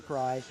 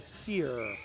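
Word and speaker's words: Cyr: It is not Olivia Cry, it is Olivia Sear. So Olivia, we're so sorry as you're watching this. You are definitely a 2-hour thing on the program. It is spelled C-R-Y Cry, not C-Y-R Sear.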